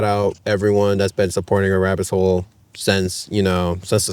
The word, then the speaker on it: arabbitshole: And in my opinion, I don't think it's that hard, but just to emphasize this is a rabbit hole. It's all one word.